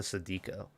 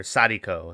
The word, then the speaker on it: Sadako: So shout out to Sadiko. Or Sadiko is probably how you pronounce it.